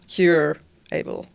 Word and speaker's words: Curable: it's called Curable. I don't know how to pronounce, but it's like cure-able.